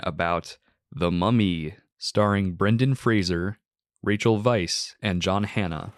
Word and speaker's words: Fraser: It is Fraser. And he he confirms it himself. Says that everyone pronounces it wrong.